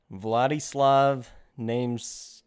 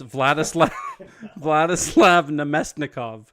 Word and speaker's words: Vladislav Namestnikov: Vladislav Namesnikov. Yeah, no, it's Vladislav Namestnikov.